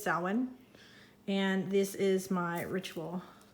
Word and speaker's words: Samhain: and then i see this is samhain i didn't know that that's how you're supposed to say it because it doesn't look like it's spelled that but i think it's samhain and this is my